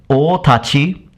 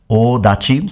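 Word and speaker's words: 大太刀: It says here, otachi, odachi, so it gives us two possible pronunciation for this.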